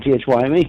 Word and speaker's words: thyme: See how it's pronounced? Time, and you got thyme.